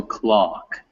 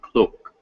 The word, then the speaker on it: clock: talk talk okay and it's also clock not cloak okay okay alex on fox